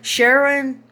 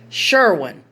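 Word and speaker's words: Sherwin-Williams: Kenny sure sure okay Sharon Sharon Sharon or Sharon how do you say that word Sherwin okay it's Sherwin Williams paint and he got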